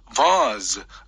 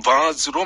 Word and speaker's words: vase: vase, vase라고 발음도 하지만 영국 발음 vase로 많이 출제합니다.